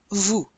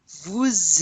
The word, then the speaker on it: vous: Vous êtes. Notice normally we do not pronounce the S in the vous unless it's followed by a vowel.